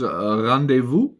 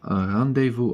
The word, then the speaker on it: rendezvous: How to pronounce rendezvous? There you go. And rendezvous.